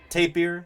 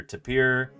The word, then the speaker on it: tapir: to have you here doesn't actually matter you're going to hear lots of different pronunciations you'll hear tapier that's how I grew up saying it you'll hear tapier Tapper taper uh you hear